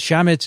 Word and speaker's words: chametz: During the 7 days of Passover, the commemoration of the Exodus, Jews are forbidden to eat chametz. Is that how you say it, Elio? Chametz? Yep, that's correct.